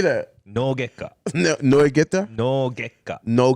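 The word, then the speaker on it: 脳外科: No gekka.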